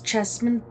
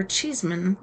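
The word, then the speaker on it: Cheesman: Emmer's Chesman or Cheeseman is how they call it, but it it's spelled like chess.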